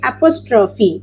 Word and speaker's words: apostrophe: Apostrophe. Spell it. Apostrophe. Apostrophe, that PH, so it will become fa, apostrophe.